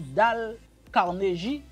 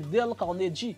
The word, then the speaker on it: Dale Carnegie: Au cinquième livre là, pour moun qui pas connaît, si nous t'a prononcé en français, nous t'a dit Dale Carnegie, mais en bon anglais c'est Dale Carnegie.